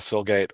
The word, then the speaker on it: Filgate: have a super special guest this time Michelle filgate Michelle I didn't ask how to say your